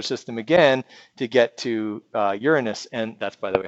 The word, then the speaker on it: Uranus: across the solar system again to get to Uranus and that's by the way how you pronounce it okay and then across the solar